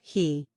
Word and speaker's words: He: The 6 sounds are Su, pronounced like shu with a deep sigh, which is associated with the liver, he, pronounced like her with a yawn, which is associated with